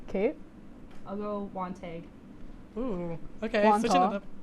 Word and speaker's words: Wantagh: Wantagh. Kate? I'll go Wantagh. Ooh. Okay. Wantagh. Switching it up. Oh. Wantagh. Honestly, Yeah, probably should have gotten that The one. G. G is silent.